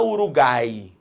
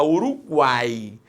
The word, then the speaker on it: Uruguai: Quando o U é pronunciado, você não fala Uruguai, você fala Uruguai.